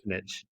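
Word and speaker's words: Xunantunich: Zunantinich.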